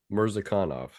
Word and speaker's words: Murzakanov: Murzakanov is how you hit the syllable on the wrong emphasis.